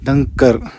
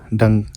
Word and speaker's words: Dhankar: So this is the back view from the धनकर monastery. डंकर ऐसे pronounce करती है। एस फार एज I know बहुत सारे प्रोनाउंसिएशन है। धनकर धनकर ढंग ढंग ऐसे प्रोनाउंसिएशन है।